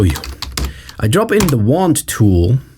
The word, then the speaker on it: Wand: I drop in the wand tool. In German pronunciation, this sounds like Wand, and it means wall.